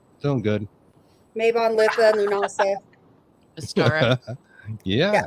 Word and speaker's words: Mabon: And is it Mabon? Yeah. I got that right. Well, that's two. All right. Doing good. Mabon, Litha, Lunasa.